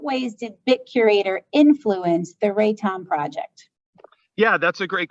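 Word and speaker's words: RATOM: The BitCurator project predated, now is it all initials or do you call it R-A-T-O-M? How do you pronounce it? Oh yeah, it would be, we call it Raton, and it's okay.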